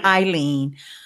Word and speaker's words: Ileane: do if you know my name is pronounced Aileen you have to know